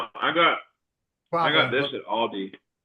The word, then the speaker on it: Aldi: Technically, since it's a German company, you would pronounce it how they pronounce it.